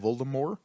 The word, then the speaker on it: Voldemort: anyways that I live T is silent Voldemort he's supposed to be full more I think yeah it's